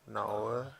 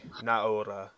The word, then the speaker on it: Naora: I mean, the actual Japanese pronunciation, I think it would be like as if you were saying the A and the O together, but really fast, like Naura. Naura. Naora.